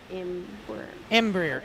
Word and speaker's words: Embraer: It's Embraer. It's Oh, actually Embraer. pronounced Embraer. Embraer. I'm sorry, Embraer, Pretty whatever.